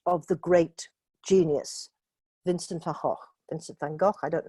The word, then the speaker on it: Van Gogh: the great genius, Vincent van Gogh. Vincent van Gogh, I don't know how you pronounce it in Spanish, in Dutch it's Van Gogh, it's got a things.